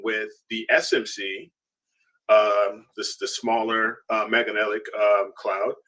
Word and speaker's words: Magellanic: How do we pronounce it? Magellanic. Magellanic.